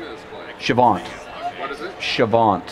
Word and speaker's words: Chavant: Chavant. What is it? Chavant. How do you spell it? C-H-A-V-E, or V-A-N-T, that's it, V-A-N-T, there you go. Like Savant, like you.